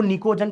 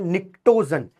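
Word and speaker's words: pnictogen: होता है निक्टोजन निकोजन कई लोग इसको निकोजन पढ़ते हैं नहीं इसका नाम है निक्टोजन पी साइलेंट है तो यह है निक्टोजन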